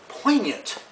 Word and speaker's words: poignant: think that was really poignant with the silent G number three I got